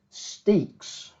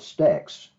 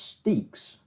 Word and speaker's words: Stexe: did I called it stacks because I didn't know how to pronounce it it looked like Stacks but I actually got a message from the guy himself and he said it was pronounced steaks so we'll go over